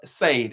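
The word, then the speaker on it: Sade: know country is here saved s-a-d-e that's the way my country is that's the way i see it that's where i'm pronouncing so she wanted to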